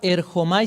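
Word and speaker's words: ἔρχομαι: Es la palabra erchomai, se escribe, se pronuncia o se puede pronunciar erchomai, como lo pronuncie sería bueno, está bien.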